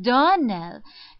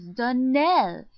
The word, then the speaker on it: Donnell: you pronounced our name Donell now now Miss Shirley the correct pronunciation of our name is Dell Accent on the last syllable I hope you'll remember